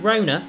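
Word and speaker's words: Roner: ski wearing walking billboard Eric Rona rhymes with Boner has the answer each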